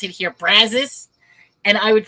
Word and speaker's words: Brazos: And like, in certain words, I didn't realize, like, there's a river here called they pronounce it here Brazos, and I would pronounce it Brazos.